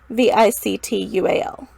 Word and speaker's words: victual: And I also would have spelled it like V-I-D-D-L-E or something like that, not V-I-C-T-U-A-L.